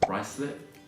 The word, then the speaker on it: Ruislip: A few other examples would be this one, which is actually pronounced Ruislip, so Ruislip.